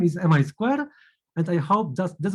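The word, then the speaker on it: Mi²: say that the the the way how we should pronounce our lab is mi square because it comes from the square it comes from names of two faculties um from which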